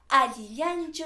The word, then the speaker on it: allillanchu: Para los que no hemos podido pronunciar bien la doble L, les tenemos un truco. Solamente tienes que exagerar los pómulos, como yo, qhawarimuaychis. Y decimos, allillanchu imaynallan.